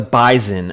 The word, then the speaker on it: Bison: First of all, North Dakota State, the Bison, as they like to be pronounced. Bison.